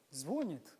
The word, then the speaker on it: звонит: Ударение на «и», да?